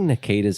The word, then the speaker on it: Nketiah: And, I think Nikita's an interesting one because I think obviously. it's pronounced differently to that. Tell me. Nketiah.